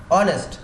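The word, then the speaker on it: honest: অনেস্ট যদি কখনো এইস এর মতো উচ্চারণ না হয়, এটা কিন্তু এইস আছে, কিন্তু খেয়াল করে দেখো মনে হচ্ছে যে ও থেকে উচ্চারণ হচ্ছে অনেস্ট, এইসটা উজ্জ হয়ে যাচ্ছে, সাইলেন্স হয়ে যাচ্ছে।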